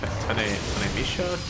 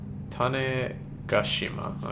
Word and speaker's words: Tanegashima: Tanemisha? Taneshima? What is it called? I've got one. Tanegashima. Okay, close.